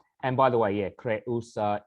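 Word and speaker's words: Creusa: by the way yeah kre usa is three syllables so this is not a diphthong um so may crayosa survive may your conjuncts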